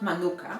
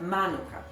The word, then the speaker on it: Manuka: Honey by the way please pay attention to the right accent not Manuka but Manuka that's how it is